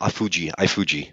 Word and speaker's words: iFood: Yeah, there's a company called iFood, and it's a Brazilian company. It's called, actually in Brazilian, called iFuji, right? They pronounce their words a little differently here.